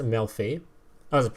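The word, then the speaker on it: Melffy: It's pronounced Melfi.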